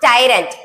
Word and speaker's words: tyrant: So it should be pronounced tyrant. இத எப்படி படிச்சிடக்கூடாது? டைரனின்னு படிச்சிடக்கூடாது. tyranny.